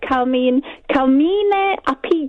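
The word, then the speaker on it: Carmine Appice: In Vanilla Fudge, it's Carmine Apice. If you say that in kind of Italian. Carmine Apice.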